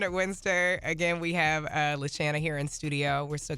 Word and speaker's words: LaShanna: LaShanna.